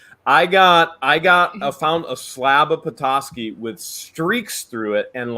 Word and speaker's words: Petoskey: It's Petoskey. Is it Petoskey? But that's if you're from from north. Boston. That's if you're north. I get so much hate because I naturally say ASCII, so it's Petoskey to me, and I'm getting a